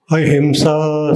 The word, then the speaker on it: अहिंसा: See, you should close your lips. Him, not him. Close your lips. Ahimsa.